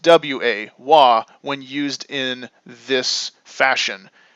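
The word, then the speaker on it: は: the Kana for ha h a but it's pronounced w-a-wah when used in this fashion now it's a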